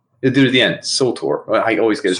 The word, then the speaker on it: Surtur: dude at the end, Surtur. I always get his name wrong. Surtur. Like sulfur. Surtur.